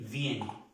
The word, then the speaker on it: viennent: Je viens, tu viens, il, elle, on vient, nous venons, vous venez, il, elle, viene. Viene. Hasta aquí se pronuncia. Viene.